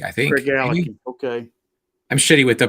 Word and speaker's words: Craigellachie: me and you do is, and I may pronounce it wrong, Craigellachie 13. Craigellachie, I think. Craigellachie.